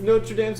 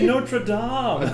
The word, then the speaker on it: Notre Dame: It's Notre Dame. Dude, no, dude, it's Notre I think Dame. the school's actually pronounced Notre Dame sounds Dame, like but- some like idiot Fighting Irish.